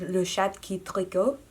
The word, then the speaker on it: Le Chat qui tricote: I practiced pronouncing it while I turned my camera back on, but it is Le Chat qui tricote, which means the knitting cat, the cat that